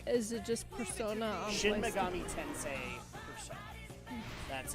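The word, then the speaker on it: Shin Megami Tensei Persona: Is it just Is it just Persona on Shin PlayStation? Megami Tensei Persona. That's how it's pronounced.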